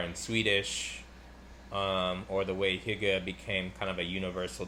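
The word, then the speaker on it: hygge: I think it's Hyuga. It's like a Danish word.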